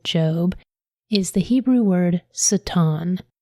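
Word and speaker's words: שטן: So the word in Hebrew that is translated into Satan here in Job is the Hebrew word Satan. It's also spelled S A T A N but it's pronounced Satan.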